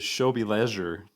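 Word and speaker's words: W żłobie leży: In Polish, you pronounce it as Shobi Leisure, and so there's lots of Okay. W's and Z's and Yeah, I was going to X's.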